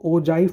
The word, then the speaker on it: Ogive: लिखा जाता है ओ गिव बट इसको ओजाइव प्रोनाउंस किया जाता है। यह जी जो है वो एक जे की तरह प्रोनाउंस होता है। ठीक? तो ये मिस्टेक बच्चे करते हैं। तो ओ गिव नहीं ओजाइव इसको कहते हैं।